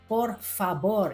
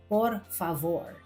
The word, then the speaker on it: por favor: Remember ang letter V na Spanish ay pino-pronounce na B. Kaya por favor ito. Hindi for favor.